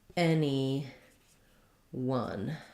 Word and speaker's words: anyone: won the game so for anyone you can think about it like any one I'll rewrite the schah there with letter U um because in one we have the W sound the uh sound the schah and the n Sound anyone um those are great